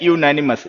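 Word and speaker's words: unanimous: ये है यूनैनिमस, जैसे यूनिट में होता है ए आ गया।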